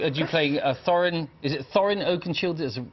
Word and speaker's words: Thorin Oakenshield: Is it Thorin Oakenshield? Is the correct way to pronounce it? Thorin Oakenshield.